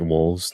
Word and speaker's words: wohlvs: it out loud is my name on screen right now that you're looking at like wolves like it's that's my